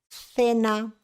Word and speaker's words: cena: utilizamos una c y la C delante de eoi se pronuncia Za cena cine y nunca nunca nunca